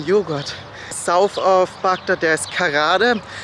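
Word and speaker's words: Karada: about getting frozen yogurt South of baka there's kada it's spelled k r a d a also written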